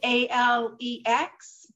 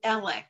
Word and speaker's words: Alex: Alec it is spelled a-l-e-x most of us in the country pronounce it Alex but from where he lives in that area they call him elec so if we say